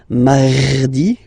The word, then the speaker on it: mardi: You don't need to go too deep like mardi. No, no, no. You don't move your tongue, so it doesn't sound like mardi. No, it's really soft.